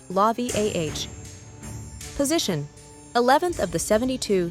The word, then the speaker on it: Lauviah: Name Lauviah, pronounced Lauviah.